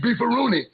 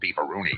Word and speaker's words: Beefaroni: Yep, if it wasn't for great tasting Chef Boyardee Beefaroni, the spinneroonie would have never been born. Everyone's excited about the great taste of Chef Boyardee Beefaroni, and that's beefaroni, not beefaroonie.